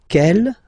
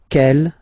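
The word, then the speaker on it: quelle: same way and then the feminine form is written like that q l l but it's pronounced like the masculine form Kell at the masculine Kell at the feminine okay so it's basically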